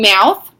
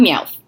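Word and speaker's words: Meowth: just like anyway and mouth I love I love me out because when you say his name it sounds like you have a list and you're saying mouse and it's just the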